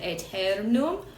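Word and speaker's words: aeternum: And on that word Eternum, we have one pretonic syllable, e. Then we have the tonic accent, ter. And then you have your final syllable, num.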